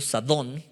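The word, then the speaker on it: זדון: soberbia proviene del hebreo sadón con acento en la o y con z al principio sadón y significa arrogancia presunción soberbia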